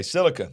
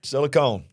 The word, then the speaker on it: silicon: Silicon Valley yeah okay silicon not silicone it's not silicone okay okay but there